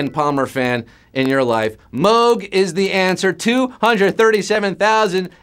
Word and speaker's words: Moog: a Robert Moog although if he had his druthers we pronounce it mogh because that's the way he pronounced it tell that to your Emerson Lake & Palmer fan in your life Moog is the answer 237